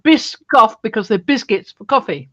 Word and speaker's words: Biscoff: Biscoff. Pardon? Biscoff. Biscoff? Biscoff. How do you spell it?